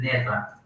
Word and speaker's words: never: Algunos le llaman never, ok, sí puedes pronunciar never con la R, si estás hablando inglés americano. En Inglaterra, sin embargo, la R es un poquito más, es casi muda, ¿no?